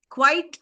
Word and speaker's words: quite: Okay, quite and quietly. Look at the difference in the spellings. Quite, Quite, quite large, quite enormous, right? And quietly. Quiet is spelled Quiet, and there's a distinction in the pronunciation.